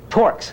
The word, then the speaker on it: torques: Or because the kids provide the same but opposite, begin with T, end with dork, rhyme with dork. Dorks. Torques.